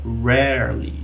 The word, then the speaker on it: rarely: Eu tenho aqui o R retroflexo do inglês. Então, rarely, que seria raramente.